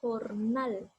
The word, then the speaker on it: jornal: La palabra jornal, la sílaba tónica nal, pero igual me va a decir, es una palabra aguda y como está terminando en L, no lleva tilde, pero sí tiene acento, en este caso en nal, en dar.